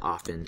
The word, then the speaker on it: often: So even though we might pronounce it as often, it's spelled with a T.